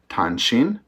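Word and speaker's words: 탄신: So in Korean, this is pronounced Tanshin. Japanese sounds almost the same.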